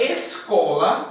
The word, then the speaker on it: escola: Quando eu tenho a palavra escola, eu tenho aqui o S e o C junto. Mas eu vou pronunciá-los separado. Escola.